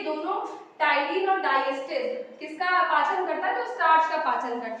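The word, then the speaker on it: ptyalin: टाइलिन भी पाया जाता है। टाइलिन को इंग्लिश में भी कहते हैं टाइलिन, बट इसकी स्पेलिंग होती है PTYLIN।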